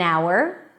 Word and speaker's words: hour: If the H is silent and dropped, then it should be preceded with an an hour, an honest person, and it's an honor.